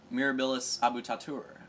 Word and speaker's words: Mirabilis Abutatur: tight uh a little bit of facts quick mirabilis abut tatur is the track we are racing right here that is how you pronounce it Latin name if you want to